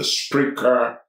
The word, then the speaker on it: Spreaker: listen directly on the Spreaker app, which can be downloaded for both the Android and the Apple phone. Spreaker is spelled as it is pronounced, S-P-R-E-A-K-E-R.